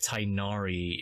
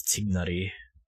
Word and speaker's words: Tighnari: find tignari there tignary I know he's pronounced tinari in the uh in the English dub but for for True um Middle East uh Middle East language um pronunciation it's dignity I'm gonna go with